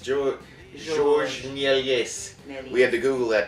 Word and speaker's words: Georges Méliès: Georges Méliès Devil Double Feature.